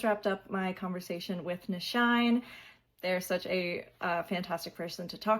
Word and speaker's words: Nyshyne: you can find me everywhere at the Nyshyne, TheNyShyne, pronounced Nyshyne.